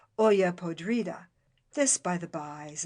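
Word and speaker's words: olla podrida: they have that's called Oya Podrida this by the by is a mere rhyme to the eye for in Spanish the I is pronounced like an e and they've not quite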